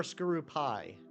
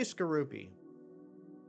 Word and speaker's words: Skorupi: Yeah, wait, Skorupi or Skorupi? You don't drap yourself in a blanket, you drape yourself in a blanket. I say Skorupi.